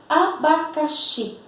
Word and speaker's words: abacaxi: Uma dica também para identificarmos a sílaba tônica é aquela sílaba que nós demoramos mais para falar. Abacaxi, tá? Então, sílaba tônica de abacaxi, xi.